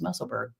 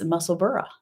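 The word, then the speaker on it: Musselburgh: thought well maybe not maybe I just thought it was muscle BG because you know that's how we pronounce things over here but uh no it's muscle bur so very cool and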